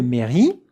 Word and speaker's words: mairie: Une mairie. Et maintenant, regardez la prononciation. Look at how to pronounce it. Mairie. Mairie. With that French R.